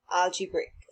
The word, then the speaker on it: algebraic: you see it's a pronounce so pronounce it as al g brick algebraic so now let's look